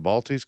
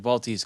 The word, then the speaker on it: Baltes: Well, the Balties Classic, That I thought it was the Bates Classic, Baltese Classic. I said it wrong.